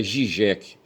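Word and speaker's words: Žižek: Aí aqui a Wikipedia diz que a gente deve pronunciar Zizek.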